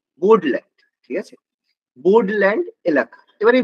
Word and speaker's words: Bodoland: ঠিক আছে, বোর্ডল্যান্ড মানে বিও, আমি ইংলিশটাই লিখছি, উচ্চারণ করবে BODOLAND, বোর্ডল্যান্ড।